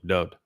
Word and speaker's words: Dod: The Wah in DoD's name is pronounced just as it is in Yahweh's name, just as it is in the word Torah, just as it is in the word shalom.